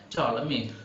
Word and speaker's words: Ptolemy: So the P should be silent.